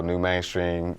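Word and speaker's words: Nu Mainstream: Make sure you follow New Mainstream. That's spelled NU. Like new, like the kings and queens that you are.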